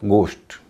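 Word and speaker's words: ghost: एसटी पोस्ट दूसरा है जी एच ओ एसटी इसको कई लोग होस्ट कहते हैं लेकिन अंग्रेजी में घ नहीं है अंग्रेजी में जहां भी जीएच देखें उसका उच्चारण ग करें बोला जाएगा गोस्ट एच ओ एसटी होस्ट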